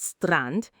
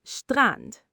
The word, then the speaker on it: Strand: When a word starts with st, you don't say st like in English stop. You say st. So strand beach is not strand, it's strand.